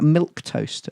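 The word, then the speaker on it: milquetoast: I did call someone a milk toast earlier. Yes, me. What does that mean, Aaron? It means sort of like slightly weak and feeble and bland. It does. It's not spelt how it's pronounced.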